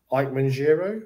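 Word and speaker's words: Ikemen Jiro: it yeah yes it is uh kishida and ike manjiro is that how you say it oh yeah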